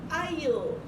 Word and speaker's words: I'll: Es un apóstrofe para, en lugar de decir I will, digo I'll, pero bien pronunciada la L. I'll.